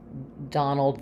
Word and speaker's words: Donald: all of those and the most typical errors I hear for this sound when it's spelled with letter o is that people will do some kind of rounding like an o or an a more of a British vowel Etc so visualize it with that a or that ah um and that will really help you so you can hear